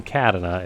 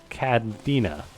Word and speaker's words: Cadena: It's not Cadena, it's Cadena. Cadena.